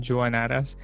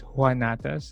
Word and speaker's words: Juanatas: is johannatas uh i pronounced my last name from the time usually i say johannata so that people know how it's spelled but most people say it's juanatas like the spanish pronunciation yeah that's okay it's